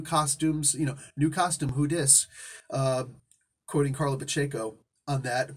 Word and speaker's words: Pacheco: Quoting Carla Pacheco on that. Pacheco, excuse me, just butchered her name. See that? But she had the sense to actually tell me how to pronounce her name.